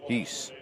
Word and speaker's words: Hesse: Heese. Well, he pronounced it Heese, so we'll go with Heese.